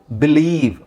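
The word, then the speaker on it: believe: ನೋಡಿ first I ಇಲ್ವಾ ಐ ಇ ನಾವಿಲ್ಲಿ ಈ ಅನ್ನೋ ಉಚ್ಚಾರಣೆ ಬರುತ್ತೆ ಈ ವರ್ಡ್ಸ್ ನೋಡಿ ಪದಗಳು ನೋಡಿ ಇಲ್ನೋಡಿ ಇಲ್ಲಿ ಬಿ ಲಿ ಇಲ್ಲಿ ಐ ಇದಿಯಾ ಇದನ್ನ ಏನಂತ ಓದ್ತೀವಿ ನಾವು ಬಿಲೀವ್ ಒನ್ to three four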